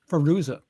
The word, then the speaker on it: Fairuza: Fairuza.